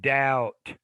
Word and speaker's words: doubt: have no and then doubt notice there's no b indicated in there you have though you